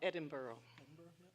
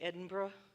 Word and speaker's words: Edinburgh: Edinburgh, which I didn't realize that some people say Edinburgh and some people say Edinburgh and it's spelled like Edinburg.